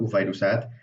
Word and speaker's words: وفيروسات: Now notice that the fa here has a V kind of sound. Now that's only in loan words really. So like it's not really a V, it's just that because there's no V letter in Arabic, whenever you want to write that in the native Arabic script, you use an F.